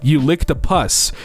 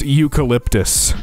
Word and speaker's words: eucalyptus: so good smell it you lick the puss dot dot dot hands me a Candle jar it's pronounced eucalyptus I just want everyone